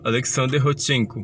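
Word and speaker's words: Александр Родченко: aí o Alexander rodchenko tá gente pronunciem comigo Alexander rodchenko pronuncia em casa tá o hot 100 foi um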